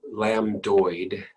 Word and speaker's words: lambdoid: and right parietal bones third suture is called the lamb lamb like a baby lamb lambdoid doid the lambdoid suture i'll put in red